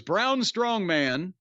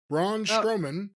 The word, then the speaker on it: Braun Strowman: Jacob Fatu, and his opponent, by the way, was Braun Strongman. Braun Strowman. Yeah, that's sometimes people mispronounce it that way.